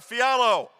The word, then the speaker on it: Fiala: It's pronounced Fiala. Fialo.